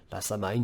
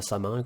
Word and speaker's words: Samhain: Euh, le démarrage, c'est plutôt vers la Toussaint, donc qui est son ancien nom, c'est la Samhain ou la Samin, comme on préfère prononcer, qui est voilà, la